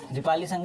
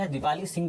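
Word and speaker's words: Dipali Sangha: दीपाली संघ, दीपाली सिंह करके किताब में लिखा हुआ था, बट असल में वो दीपाली सिंघा है, इसको सिंघा कर दो, दीपाली सिंघा या फिर दीपाली संघ, दोनों ही प्रोनाउंसिएशन ऑलमोस्ट सेम है।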